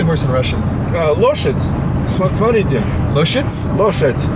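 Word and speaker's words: лошадь: Loshet. Смотрите. Loshitz? Loshet. Loshit.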